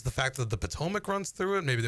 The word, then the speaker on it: Potomac: I had someone pronounce it Potomac once, and I Yeah, just that's not looked it. at him and I'm like, not it. No. You mean the Potomac?